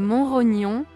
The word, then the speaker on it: Montrognon: début du XX siècle le château de montrog prononcé comme monrognon était le centre de